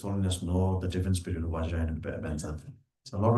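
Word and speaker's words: वज्र: Because the Tibetans usually mispronounce it as Benza. So in general, what I usually do, and what I've seen His Holiness also do is, of course, I think the Sanskrit proper rendition is Vajra, but the lineage that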